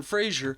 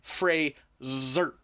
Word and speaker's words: Frazer: sure to pronounce that it's not Aaron Frazer, it's Aaron Frazer. Aaron Frazer.